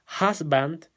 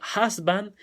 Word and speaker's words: husband: cierto va a ser husband que nuevamente es aún se pronuncia como una a y la h tratar de conocerlo como una jota entonces husband y wife esta palabra